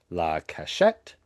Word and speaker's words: La Cachette: do you pronounce Studio La Cachette? So they said that that's what it was. Cachette or cachet, I think it just depends on if you have a French accent or not.